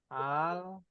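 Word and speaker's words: الفتح: Nih tulisannya begini. Al-fathu. Dibaca gak alnya? dibaca.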